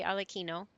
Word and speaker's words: Arlecchino: At least they got Arlecchino right for once. I was expecting the English voice director would be calling him Arlecchino or Arlecchino or something like that. But they actually say it right. They say Arlecchino. So that's good.